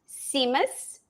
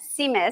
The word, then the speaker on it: Tzimmes: It's pronounced Simus, and it starts Seamless. with, yeah, it's like Tzimmes, I think it is. But you pronounce it, the T is silent, Simus.